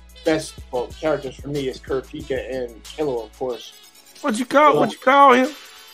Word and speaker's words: Kurapika: Kurapika.